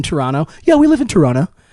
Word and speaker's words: Toronto: yeah we live in Toronto they do not pronounce that second T and if you do you out yourself as a non local take that you filthy